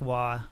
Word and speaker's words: Roy: Like, Patrick Waugh. I used to call him Patrick Roy as a kid. My dad was like, that's not how you pronounce it.